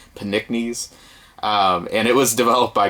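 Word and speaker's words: Pnickies: title of this too it's like Nick knees with a p at the beginning but I'm assuming the p is silent panicknes and it was developed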